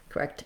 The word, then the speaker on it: correct: not and but answer correct answer when i link that correct ends up sounding a little bit more like a d and it sounds more like correct dancer correct answer so those rules for